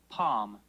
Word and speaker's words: palm: If you look at the pronunciation, that L is in parentheses. Could be there or It's not.